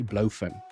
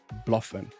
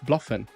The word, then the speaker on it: BloFin: zoom I see a lot of people say Blen okay it's not Blen I've spoken to the team the CEO of Blen it is pronounced Bluffin okay just to ju just to make sure